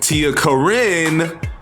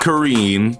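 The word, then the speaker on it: TiaCorine: definitely a valid pick Tia Karin not Karen because I was so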